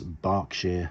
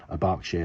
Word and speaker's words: Berkshire: Cockney rhyming slang was Berkshire Hunt. Now this gets a bit confusing because Burke and Bark sound differently, but Berkshire, which is where my family come from, is spelled B-E-R-K-S-H-I-R-E.